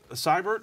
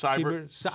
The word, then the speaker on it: Seibert: Seibert, I think is how you say it. It's Seibert. Yes. Seibert.